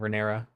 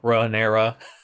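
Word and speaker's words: Rhaenyra: I enjoyed the talk between the queen that never was and Rea. Sorry, I said her name wrong.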